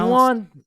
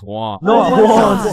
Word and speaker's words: Juan: That's just how it's pronounced. Jan, is there Jan in the room? It's Juan.